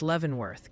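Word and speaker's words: Leavenworth: It's Levvenworth, Kansas. Like you levven bread and Lancaster, Pennsylvania.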